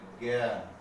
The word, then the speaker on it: জ্ঞান: আবার জয়ের সাথে যদি ইয় যুক্ত হয় তাহলে তার উচ্চারণ হয় গ অথবা গ গর মতো। যেমন জ্ঞান, জ্ঞান শব্দে আছে জ যোগীয়, এখানে উচ্চারণ হবে জ্ঞান।